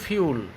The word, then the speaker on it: fuel: উচ্চারণ কিন্তু ফিউল, আমরা বানান ভুল করব, এইসব ছেলেরা বানান ভুল করে, আমরা ফুয়েল বলি, ফিউল যা উচ্চারণ করলাম এটাই প্রকৃত উচ্চারণ।